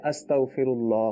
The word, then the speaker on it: استغفر اللہ: تو جب عربی میں کہیں گے تو اس کو اس طرح کہیں گے استغفر اللہ، ٹھیک ہے.